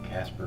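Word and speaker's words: Caspar: paranormal research team called Casper paranormal CA SP our in case you're wondering though it's not spelled like cartoon just sounds the same so you actually go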